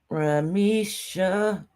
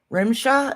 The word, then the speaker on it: Rimsha: Ramisha. No, it's Rimshaw.